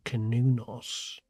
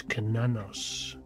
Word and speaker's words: Cernunnos: In terms of pronunciation, I tend to favour Cernunnos. That sits well with me, but then there are others that would say that the correct pronunciation is Cernunnos.